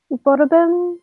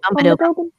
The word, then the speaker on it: Umbadobin: So, Miss, Borobin, is that how you say it? Umbadobin. What is it? Umbadobin.